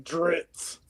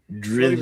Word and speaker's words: Drizzt: IT'S JUST LIKE TRAVIS calling is calling him Dritz. Drizzt. It's spelled Drizzt. Drizzed. It's spelled Drizzt. Like when you pour something on your food, you're drizziting it on there, you know?